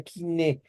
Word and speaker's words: koiné: hablar totalmente el griego kiné o koiné, como se escribe, pero se pronuncia kiné, y que era este